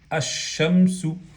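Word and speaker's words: الشمس: Si le sumamos alif lam, ¿qué decimos? Ash-shamsu.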